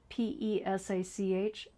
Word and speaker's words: Pesach: The word is derived from the Hebrew word Pesach, p e s a c h, and forgive my mispronunciation. Pesach ch I think, is which means Passover, and it was and adapted into Greek as Pascha.